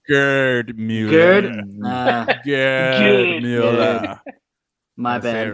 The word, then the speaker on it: Gerd Müller: Rossi, Luis Suarez, and Gerd Müller for most. Hold on, you said it wrong. It's Gerd Müller.